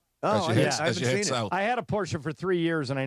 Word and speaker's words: Porsche: Is it Porsche or is it Porsche? Porsche. Yeah. Two syllables.